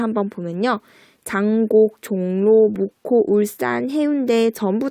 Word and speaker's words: 울산: 자, 울산 같은 경우 발음상으로는 분명히 울산 우리가 된소리 대기 일으켜서 발음을 하고 있어요. 그쵸? 자, 이 발음대로 적는다면 이렇게 SS로 적어야 될 것 같잖아요. 근데 이렇게 하지 않고 그냥 S 하나만 적어줍니다.